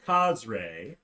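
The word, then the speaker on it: Cazre: so she needs some some work yes professor cosray c-a-z-r-e professor cosray our priest of joaquin teaches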